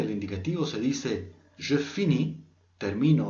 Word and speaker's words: finis: Solo son letras que, por ejemplo, en los primeros casos no se van a pronunciar y luego en el último caso, los tres últimos, es una forma especial.